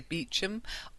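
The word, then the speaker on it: Beauchamp: Uh it looks like Bamp. Um B E A U C H A M P. But I think if you meet somebody you'd say Beum or when you meet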